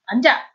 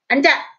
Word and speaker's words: 앉아: So this one, you pronounce the 니은. And remember, although when an 이응 follows, that sound carries over, not when there is 히읗.